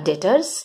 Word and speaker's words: debtors: I mean you pronounce it as dept but don't pronounce it as debt, it would be a wrong pronunciation, you call it as debt. So they became debtors, and they supported the people who had supported the Weimar Republic, socialists, Catholics, Democrats, conservatives were attacking them.